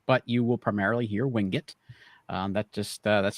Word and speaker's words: Wingate: like you will hear it pronounced the way it's spelled Wingate um on campus you'll hear Windgate but you will primarily hear wingit um that just uh that's just kind of